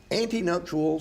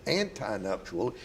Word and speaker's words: antenuptial: It's not an antinuptial, it's an antenuptial, meaning before.